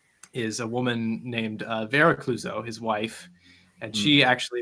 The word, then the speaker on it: Clouzot: So the director, Henri Georges Clouzot, and it's not Clouseau like the famous French detective played by Peter Sellers. Yes. It is spelled differently, but pronounced in a similar way.